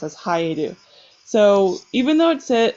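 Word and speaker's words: 生える: So that's when it's pronounced as haeru.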